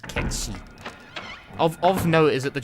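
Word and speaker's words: Cait Sith: Can I pronounce Kate? No, it's a Gallic word. It's pronounced Ketchi.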